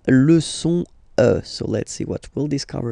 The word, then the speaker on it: es: And for tu, then you've got this combination of letters, okay? But then basically the sound you will pronounce or you will produce is E, okay? Tu es, all right?